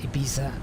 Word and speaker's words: Ibiza: You don't pronounce the Z like you'd normally say. You can either... do you know what? I don't think anyone really cares. Ibiza. We make the TH sound, the th sound.